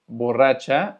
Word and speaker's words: borracha: Bueno, en portugués, borracha, o en realidad se pronunciaría borracha, porque es doble R, significa más como a goma.